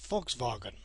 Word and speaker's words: Volkswagen: like a V and the V is pronounced as if it were an F for example a BMW is actually called BMV and the Volkswagen is Volkswagen I have noticed that